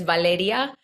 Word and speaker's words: Valeria: they call her Val they call her Valerie but the the pronunciation of my name is Valeria and it's spelled v-a-l-e-r-i-a